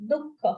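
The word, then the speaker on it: दुःख: Te brahma tadvidu kritsnam dukkha. How you say dukh? Only thing here will be slight kha sound.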